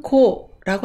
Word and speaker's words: 好: 음독은 고라고 합니다.